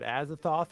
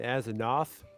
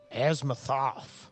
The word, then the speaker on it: Azathoth: But yeah, like they were talking about Azathoth, but they were saying Azanoth with an N, and they were saying and pronouncing the name wrong, saying that if we